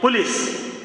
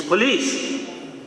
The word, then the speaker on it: police: You call it police. There is no word like police in English. It's police.